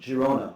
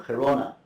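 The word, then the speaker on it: Girona: I got into this with uh studying Hebrew manuscript fragments extracted from bookbindings in Jirona or Kona depending how you pronounce it if you're Catalan or or Castiano.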